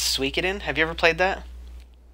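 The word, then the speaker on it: Suikoden: I grew up calling it that but it's pronounced suin have you ever played that yeah I call it sooden but it's actually like you're supposed to call it suen but I call it sooden have you ever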